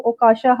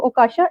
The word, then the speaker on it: Okasha: ओकाशा, इफ आई एम not wrong मैं आपका नाम सही प्रोनाउंस कर रही हूँ। ओकाशा, इट्स ओकाशा।